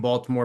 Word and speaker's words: Baltimore: And you I can always tell when somebody is not from Baltimore because they give it, you know, they give it three syllables. That's right. It's more like two syllables.